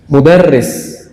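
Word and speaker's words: مُدَرِّس: Kurang memberikan tekanan pada tasdid. Mudarris, muallim, kan ada tasdidnya.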